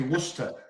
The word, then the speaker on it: Worcester: It's actually Worcester. Worcester.